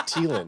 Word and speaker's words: Thielen: I'm saying his name's pronounced Thielen.